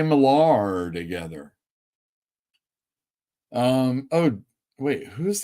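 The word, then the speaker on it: Millar: people working on it ghost riter everybody Mark Miller that's how you say his name unless someone doesn't know and then we all say malar together um oh wait Who's the artist Valerio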